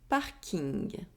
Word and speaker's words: parking: In that case, the ing keeps almost the same pronunciation as in English. For example, un parking, un smoking.